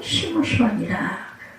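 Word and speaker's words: שמשון: 삼손은 히브리어로 시므시온이라, 이렇게 그 원어적인 발음이 원래 작은 태양이라는 이름의 뜻을 가지고 있어요.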